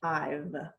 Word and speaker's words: I've: Because it's very soft and it sounds a lot like I, but it's I've. Okay. So you were saying it right, just minus that little soft sound of the V.